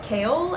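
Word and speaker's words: Chaol: foreign I really love kale I think is how you say the name I sense that like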